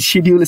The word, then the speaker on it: schedule: Edit স্কেডিউল বা delete স্কেডিউল যেটিও দিতে পারেন। আমি শিডিউল স্কেডিউল দুইটাই বলতেছি, দুটো উচ্চারণই সঠিক আসলে, ইদানিং আমাদের মধ্যে স্কেডিউল স্কেডিউল বলার প্রবণতা আসছে।